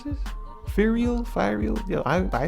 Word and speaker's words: Fireal: to pronounce this FAL fireal yeah I I say I say for real real whatever okay I checked it's fireal for real is the